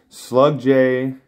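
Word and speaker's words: Slugdge: in the comments section he said the right way to say it is slug day so that's what I'm going with but yeah this is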